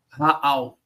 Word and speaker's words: Rahal: Raal, o H é mudo.